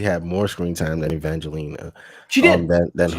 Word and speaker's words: Evangeline: Evangeline.